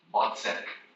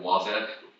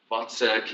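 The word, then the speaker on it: Wozzeck: this Opera right here VK is how you pronounce it it looks like wac but it's V so vek is this mentally challenged Soldier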